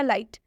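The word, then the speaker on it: light: तो ये हो जाएगा लाइट लाइट मतलब होता है रोशनी यहां पर आई के बाद जीएसटी आया है इसलिए आई का उच्चारण आई हुआ है सिंपल यहां पर लिखा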